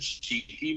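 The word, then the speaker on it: Chiqui: artist say his name one more time it's cheeky so it's c-h-i-q-u-i and i think he's got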